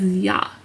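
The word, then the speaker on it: ㅑ: Number 2, this straight line with 2 lines to the right is pronounced as ya. So as you saw, this character is silent at the start of the syllable, so it makes just a ya sound.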